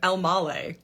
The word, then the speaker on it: Elmaleh: asking that's awesome uh I pronounce my last name elmal like tamale elmal elmal the only